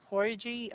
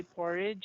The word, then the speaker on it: porridge: is porridge okay so instead of saying porgy we are going to say porridge instead and um for the